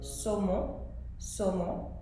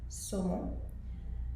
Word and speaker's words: saumon: Now with only one S, the general rule is that if it's at the beginning of a word, it will still be pronounced as a S sound. For example, saumon, which is salmon, saumon. But if it's in the middle of a word, then it might be pronounced as a Z.